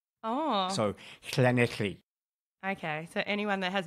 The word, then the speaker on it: Llanelli: Okay, so the double L sound in Welsh is so you have to be a bit guttural. Oh. So Llanelli.